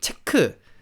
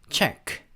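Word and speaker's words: Czech: 같은 그런 느낌은 아니죠 체코는 어떻게 발음 하냐면 체코 라고 하는게 아니라 챗 z 최 이렇게 바람 하는거예요 약간 우리 체크 약간 그런 느낌이 난 거의 비슷한 발음이 라고 향 아시면 되겠습니다 그래서 책 책 그래서 스 그런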